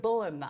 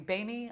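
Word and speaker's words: Böhme: You've got Pythagoras, Jacob Boehm. I pronounce it Boehm. It might be Boehme. I say Boehm.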